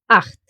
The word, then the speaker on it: Acht: of the word, but if it pairs with his friend the letter C, it will make a sound exactly like here, Acht.